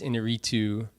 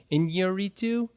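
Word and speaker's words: Iñárritu: the new Alejandro Gonzalez Inarritu movie. Inarritu, that's... Birdman. I think it might have... Inarritu. They have a tilde over the first in, I think, so it might be Inarritu, but I haven't heard anybody actually say his name.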